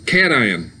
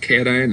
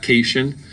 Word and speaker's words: cation: get eight okay um cation i do always like to point out this is pronounced cation not casion it's cat ion a cation is a